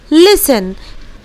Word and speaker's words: listen: सो विसल, उसके बाद ठीक उसी तरह कैसल और ठीक उसी तरह लिसन।